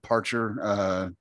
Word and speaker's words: Parcher: But anyway, I used to call him Parker, but it's not Parker, as far as not the P-A-R-K-E-R.